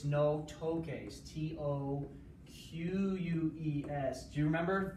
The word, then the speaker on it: toques: the camera, it's no toques, T-O-Q-U-E-S. Do you remember a few chapters ago when we learned tocar, toque? To make the K sound, you add Q.